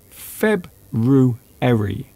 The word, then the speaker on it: February: The only one that people often have difficulty with is February. February. It's a very hard one to say because you have the letter R in a very strange place.